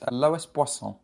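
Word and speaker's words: Loïs Boisson: I believe it's pronounced Lois Boisson.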